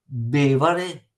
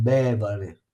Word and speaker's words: bevare: Esempio di parola sdrucciola: bevare, bevare, che risponde a bere, è sdrucciola, va sulla prima e va sempre, dovete ascoltare la pronuncia, perché bevare vuol dire che va l'accento acuto, non bevare, se no ci sarebbe quello grave.